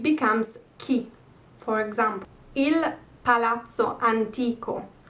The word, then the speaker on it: antico: ki for example palazzo antico where's the accent anti ko so this i that comes before the o so it's the last vowel before the last one antico so e palazzi antiqui